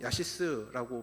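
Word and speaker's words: יָשִׂישׂ: 히브리어로 야시스라고 발음을 하는데 억누를 수 없이 터져나오는 기쁨을 말하는 것입니다.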